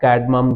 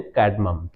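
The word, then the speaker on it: cardamom: इलायची जिसको क्या आप कैडम भी बोलते हैं कैडम ठीक है आर साइलेंट है यहां पे तो इलायची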